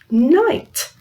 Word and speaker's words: knight: the end together yes the K is silent you don't say it so it's mmm I night and it's different this